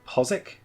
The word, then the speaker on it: Postwick: Pronounced Postwick, not Postwick, as a lot of people have been saying. Lived in Norwich for quite a while, they're very insistent on it being Postwick.